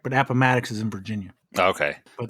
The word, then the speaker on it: Appomattox: I believe it's pronounced Appomattox. Oh, I'm sorry.